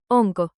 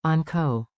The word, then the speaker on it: onko: Clap 2 beats, on ko. On ko. Now say it with a rising question tone.